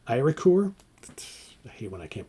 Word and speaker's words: Eiríkur: It's Eirikur, K-U-R. So Eiríkur.